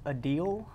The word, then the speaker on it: Adele: the studio okay turns out we have been pronouncing Adele all wrong I don't know if y'all seen that but she's a deal a deal a deal